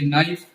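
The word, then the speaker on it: knife: ये नाइफ, इसमें एन के एन आई एफ ई के है जो साइलेंट रहेगा, ये रूल है अगर इंग्लिश सीखना है।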